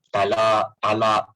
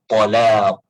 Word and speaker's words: Talaq: Cuma orang Melayu ni pronunciation dia talak kan macam huruf ta pula, tapi tak apalah. Kalau tepatnya talaq, huruf ta.